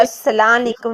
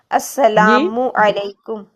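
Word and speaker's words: السلام عليكم: ऐसे ये जो सलाम है ये अस्सलाम वालेकुम नहीं होता, जी अस्सलामु अलैकुम, ठीक है।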